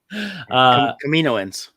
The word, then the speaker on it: Kaminoans: Kaminoans.